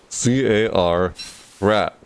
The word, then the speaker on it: Carrat: C-A-R, rat. C-A-R like car, and then rat. Carrat, that's how it's spelt. Let's pronounce Carrat. Carrot and rat put together. Half carrot, half rat.